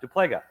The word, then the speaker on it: Duplega: Yes, Duplega.